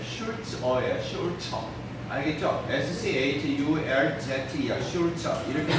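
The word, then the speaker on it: Sulzer: 슐처. 알겠죠? S-C-H-U-L-Z-E야. 슐처. 이렇게 되기 때문에 발음이 술저 이렇게 영어식으로 Z만 Z에서 술저 이렇게 발음하는 경우도 있고 독일식 발음으로 슐츠에서 슐처 이렇게 하는 경우도 있습니다.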